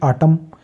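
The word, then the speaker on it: autumn: की आवाज नहीं आएगी जैसे कि आटम एन जो है एम के बाद आया इसलिए साइलेंट हो गया हाइम और आटम खजा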